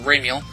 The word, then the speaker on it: Ramiel: I usually pronounce it Ramiel.